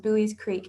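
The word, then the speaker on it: Buies Creek: And then the town that we're in is pronounced Bowie's Creek, and it is a small rural town.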